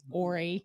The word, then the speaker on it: Horry: The H is silent.